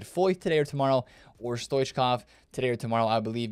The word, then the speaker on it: Stoichkov: The CH, got to pronounce that. I learned that yesterday. Stoichkov, right?